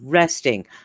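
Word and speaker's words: wresting: yeah w w r e s t ing resting that's a word and it's pronounced resting it's not pronounced wool resting or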